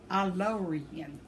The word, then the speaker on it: Aylorian: My name is pronounced Aylor-EE-N. Aylorian.